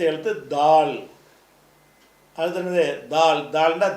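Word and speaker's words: د: தால் அடுத்து என்னது தால் தால்ன்னா தானா தானா இல்ல தால் தாள்னு சொன்னா பந்து பந்தல் தமிழ்ல தானாவா இருந்தாலும் ஒரு இந்த நா வரும்போது வரும்ல உச்சரிப்பு அந்த உச்சரிப்பா மாறிருது இல்ல இதான் தால் என்பது தால்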